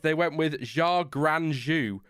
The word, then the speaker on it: Zhou Guanyu: No, I have the pronunciation for you. They went with Zhou Guanyu, Gran Gran, Zhou Guanyu, Zhu, yeah.